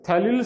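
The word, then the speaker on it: ftalil: Okay, थैलिल सल्फाथायाजोल, तो P उसका silent है इसलिए उसको हम T से बोलते हैं, थैलिल सल्फाथायाजोल।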